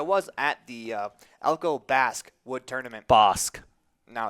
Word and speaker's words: Basque: pretty serious about that as you say it Basque as in you know bass and that's how like a long a or short a not a I mean I don't know their Mr English teacher I just know that it sounds like the word bass Mr English teacher you're